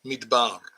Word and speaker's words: מדבר: But the word today is midbar. Midbar, as you saw on the thumbnail, midbar. And it's spelled with mem, dalet, vet, and the letter resh.